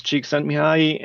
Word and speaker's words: Csikszentmihalyi: Yes, so if I can claim any fame, I can pronounce Csikszentmihalyi and spell it.